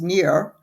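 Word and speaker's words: Nir: is supposedly the pronunciation it's ni I uh pronounced near and last name is e y a l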